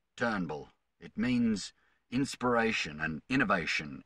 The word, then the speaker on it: Turnbull: a who is this guy he's terrible it's pronounced Turnbull it means inspiration and innovation in Australia